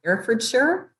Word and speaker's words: Herefordshire: lives in I think I'm saying this right herefordshire yes that's right oh you actually pronounced the age I can say this